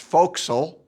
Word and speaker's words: forecastle: They slept in a compartment near the bow of the ship called the four castle which any sailor knows is pronounced folil.